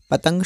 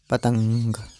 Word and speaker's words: पतंग: इसी प्रकार से पतंग शब्द को जब हम अलग अलग करेंगे तो प जमा त जमा अम जमा ग पतंग। तो इस प्रकार से इनका उच्चारण किया जाता है। तो आपको किसी भी शब्द के साथ अगर आपको यह जो रंग के ऊपर जो बिंदु लगा है इसका उच्चारण आपको हमेशा म की तरह करना होता है।